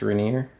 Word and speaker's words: Rainier: that's everything on the reneer um spell Rainer pronounced reneer from Frank's boots I'll